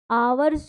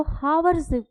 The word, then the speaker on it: hours: आवर्स नहीं होगा इसका प्रोनाउंसिएशन, मोस्ट ऑफ स्टूडेंट यही करते हैं, आवर्स को हावर्स पढ़ते हैं।